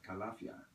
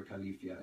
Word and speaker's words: Calafia: And it was ruled by a queen called Calafia, or Califia, it's, either pronunciation works.